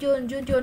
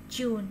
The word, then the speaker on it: June: Nhớ đừng có June. Hay là có June là con June đấy. Đọc June, chữ trò nó mạnh chút xíu. Chết rồi, cái chữ chết rồi của mình bắt đấy. June, được chưa? Mạnh hơn chữ chết rồi nữa. Chữ này nặng hơn, June.